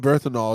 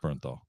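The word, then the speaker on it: Bernthal: Hey, by the way, if you don't know, John Berthanol is in that movie as well. I'm like, uh, did I say his name right? Berthal. Berthanol. It's It's just Bernthol.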